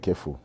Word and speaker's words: KEHPHPU: It's called KEFU. KEFU? Yeah. Oh, KEFU. Yes, use KEFU. And the other P is silent. It's silent.